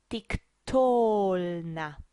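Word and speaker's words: תִּקְטֹלְנָה: So we will pronounce this with the penultimate accent, tiktolna.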